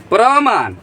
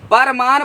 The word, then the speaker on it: प्रमाण: इसका उपसर क्या होगा प्र प्रमाण प्र परमाण पढ़ेंगे गलती है उसका उच्चारण हम गलती कर रहे हैं हालांकि हम लोग यूज इस्तेमाल कर लेते हैं प्रमाण प्रमाण प्रमाण नहीं प्रमाण होता है प्र प्रमाण तो इसका